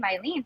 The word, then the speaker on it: Hailyn: It's in Spanish. The H is silent.